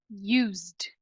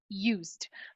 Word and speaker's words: used: de articular Idêntica então se ele termina com o som que tem voz o e de vai virar um d ou seja na prática o e vai ser apagado a nossa pronúncia então vai ficar Used Used no alfabeto de sons